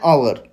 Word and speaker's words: hour: Hour starts with a silent h, vowel sound. यहाँ पे आवर का जो प्रोनाउंसिएशन है उसमें यच साइलेंट है और हमें आवर की तरह वो प्रोनाउंस करना पड़ता है.